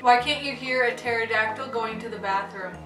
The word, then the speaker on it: pterodactyl: can't you hear a pterodactyl going to the bathroom because the P is silent why does this looming